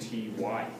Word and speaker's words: T.Y.: Hilton does not show up, Greg, You know, if you took out that period, it'd say tie. but his name is pronounced T.Y.